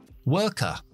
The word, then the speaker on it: worker: que hacen ese verbo, se pronuncian con la schwa al final. Como por ejemplo, trabajar, work, trabajador, worker, worker. Esto es el acento británico. Nosotros no pronunciamos las R's después de las vocales. Si yo fuera estadounidense, metería una R después de la última schwa.